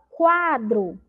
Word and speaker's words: quadro: A pró até deu um exemplo da palavra quadro. Lembram disso? Quadro, olha lá o som do U, ó, quadro, ouvimos o